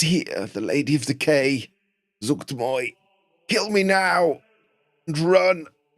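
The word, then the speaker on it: Zuggtmoy: Zuchtmoy.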